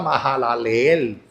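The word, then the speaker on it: Mahalaleel: Si lo busca ahí está Majalel pronunciando la H como J. Porque a veces la H cuando va junto con la H se pronuncia como J.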